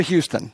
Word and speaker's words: Houston: I'd like you to bring up now Trisha Houston, pronounced just like the city.